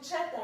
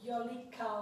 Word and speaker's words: Cheta: I'm going to call you Cheta, even though it's your last name. This is what you prefer, because obviously Violica or Violica is not the proper way to pronounce this name. So it's Cheta, and she's born also 1974.